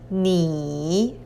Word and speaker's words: 你: So the whole character is pronounced as 你, means you.